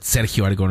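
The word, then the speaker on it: Sergio Aragonés: But I was going to say Sergio Aragones, as you guys say, but Sergio Aragones is the way he pronounces it.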